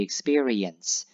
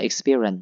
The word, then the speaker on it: experience: to bits about the experience. Thì nó rất là vui về cái trải nghiệm đó. Nó experience ha. Đừng đọc là experience nha. Experience. Nhấn chữ re nhiều vô.